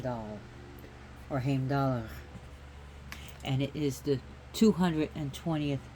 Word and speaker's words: Heimdall: got a cat bite so anyways who is H dollar okay so as you notice how I'm pronouncing it with the at the end cuz